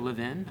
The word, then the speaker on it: Levin: learned a little trick if you think of it like you live in a house okay the only difference